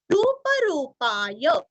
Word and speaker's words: रूप रूपाय: अनेक रूप रूपाय, दोनों भी रू यहाँ पे दीर्घ है।